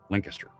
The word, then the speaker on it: Lancaster: Lancaster. They pronounce it differently in New Jersey and in New York, but Lancaster.